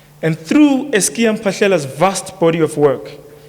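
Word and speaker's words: Es'kia Mphahlele: I will refer to him as Ntate, Eskia Mpashela. Eskia Mpashela. She could not pronounce it properly, so I am emphasizing it. It's Eskia Mpashela.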